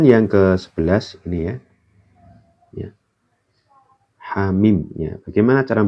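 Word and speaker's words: حم: Hamim. Ya. Bagaimana cara bacanya ini? Hamim.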